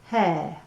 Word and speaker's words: mujer: i'm going to write down mujer "moohair" right so i know how to say it okay so that's el